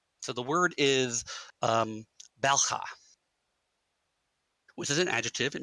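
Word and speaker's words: bel'khah: So there's two syllables, bell, with an apostrophe at the end. So it's sort of bell. It's got that bell, which I can't pronounce properly, of course.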